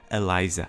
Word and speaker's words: Eliza: introduces herself as Eliza The Alchemist and I mispronounced her name the first time her name is Eliza and now we see that thce is not